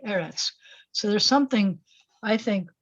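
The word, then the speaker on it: ארץ: a cool thing because when it comes at the end of a word at the end of a phrase it's going to be arets but the word is really eretz so there's something i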